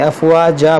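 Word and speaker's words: أفواجا: دیکھیں یہاں پر 2 زبر ہے، یہاں پر جب رکیں گے تو 2 زبر کو الف سے بدلیں گے، افواجا پڑھیں گے.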